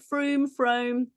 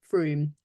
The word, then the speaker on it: Frome: wedding last year in Frome. Is that how you say it? Frome? It is, yeah, beautiful room. Frome.